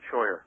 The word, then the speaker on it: Scheuer: Sawyer thank you very kindly sir it's very kind of you to have me am i pronouncing your name correctly exactly right Sawyer okay great all right